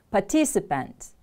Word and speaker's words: participant: part in an activity participant stress is on the second syllable participant repeat after me